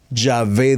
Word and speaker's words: Yahvé: por ejemplo notarás que la pronunciación es llave Ya ve dijo ya ve le